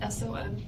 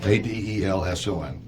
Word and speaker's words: Adelson: It's Adelson. Actually, it's spelled right. I said it wrong. Adelson.